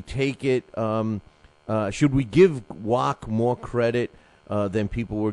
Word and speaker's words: Wach: That's the correct pronunciation, Wach? You're asking the guy who's known worldwide for murdering everybody's name, but yeah, I think I got that one right. It's Wach.